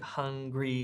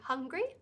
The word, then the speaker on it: hungry: So this word hungry has 2 syllables, right? Exactly. Hung and gree. Okay, so it goes hung on the first syllable and then gree, so it goes up from the first to the second syllable.